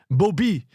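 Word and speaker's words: Bauby: His name is Jean Dominique Bob. And you have to say it like that when you're in the bookshop. Bobby. Otherwise, they won't know what you're talking about.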